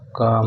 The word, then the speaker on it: calm: दोस्तों इसमें L silent है इसलिए CALM काम होगा, ये काल्म नहीं होगा।